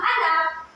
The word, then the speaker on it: anak: So, ito ay ang pagbigkas nito ay anak. Anak. So, sa bahaging na ay dapat mataas ang inyong pagbigkas.